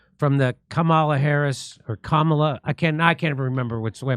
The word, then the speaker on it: Kamala: So it seems like the again, it's going to be 100% this kind of crazy talk from the Kamala Harris or Kamala.